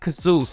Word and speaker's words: Khzouz: some of his knowledge and expertise Mr Mick kazoo how you doing Mick wonderful thank you and thank you for pronouncing my name correctly I did it I